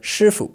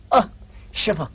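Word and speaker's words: 师父: Shifu So, this one is shifu. It's not shifu.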